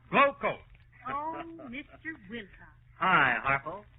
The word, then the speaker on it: Glo-Coat: And GLO-COAT is pronounced Glow Coat.